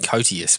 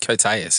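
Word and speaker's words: Koteas: I always used to call it Cotius, but I think Coteus is actually right.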